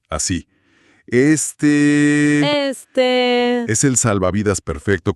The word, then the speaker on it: este: Pero la clave es que no se dice rápido. Tienes que estirar la última vocal. Así. Este, este es el salvavidas perfecto cuando pierdes el hilo.